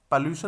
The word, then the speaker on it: pollution: पॉल्यूशन, ये TION। तो ये जो साउंड होती है ये श, इस श की साउंड होती है, इस प्रकार की साउंड होती है।